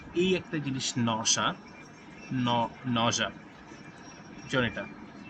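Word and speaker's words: nausea: headache নশা নশা এই যে এই একটা জিনিস নশা নশা এটা নসি না নশা উচ্চারণ এটা এই শব্দের অর্থ সবাই সবাই লিখে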